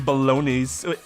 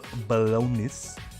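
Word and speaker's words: bolognese: could get behind some balone is it how do you pronounce that word b because the G's silent right balone balonis and I don't even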